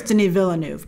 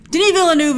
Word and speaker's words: Denis Villeneuve: i think denis villeneuve someone's like it's two syllables grace i'm pretty sure it's denis villanuev but whatever denis villeneuve is like hey man